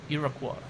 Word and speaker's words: Iroquois: That's how you pronounce it. Iroquois.